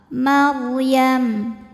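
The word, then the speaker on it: مريم: Ra sukun didahului baris fathah dibaca secara tafkhim, bacanya tebal. Maryam.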